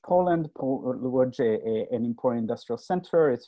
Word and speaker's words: Łódź: Was born in Łódź, Poland. Łódź, an important industrial center.